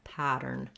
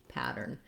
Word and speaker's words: pattern: cat or back then because the t is in the middle of the word and it's not followed by a stressed syllable in this word americans will flap this t basically it sounds almost the same as a d we're just lifting the tongue up the voice is on a nice light d sound pattern pattern you